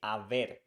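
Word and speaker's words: haber: want to say however we say Aver because we don't pronounce h in Spanish so when we see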